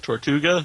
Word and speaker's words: Tortuga: favorite shows on TV, that was awesome, is Tortuga. Is that how you pronounce it? Tortuga, yeah.